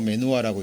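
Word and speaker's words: מנוחה: 안식이란 말이 메누 이렇게 쓰고 메누아라고 읽습니다만은 이게 안식의 상태라는 의미도 돼요.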